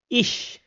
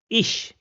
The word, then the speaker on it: ich: In all the other cases it will be pronounced as sh. For example ish which means I so it is pronounced as ish.